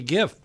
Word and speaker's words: GIF: like the technological ones like gif do we say Jeff well we say gif that what it says